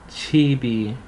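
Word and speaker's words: 집이: So you would add E and it becomes chibi. Same thing, just so it can liaison over, it would sound like chi bi, written like this, but for the purposes of sound or pronunciation, padam, it becomes chi bi.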